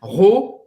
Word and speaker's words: Rodin: A gente não fala Rodin. Não é Rodin. I-N em francês tem um som bem nasal e Rodin. Quer? Rodin.